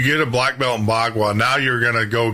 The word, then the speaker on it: Bagua: black belt, say you're in how do you pronounce it? I want to make sure Bagua. Bagua. So you get a black belt in Bagua.